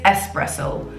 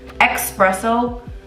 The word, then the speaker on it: espresso: espresso pod it is espresso s-e-s and with this list it's even better espresso there is you're putting a letter there that is not there expresso that's not the way the word is spelled the word is